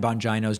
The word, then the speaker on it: Bongino: when you pronounce dan bongino's name incorrectly the i is pronounced as a long e and not an i bongino i only bring this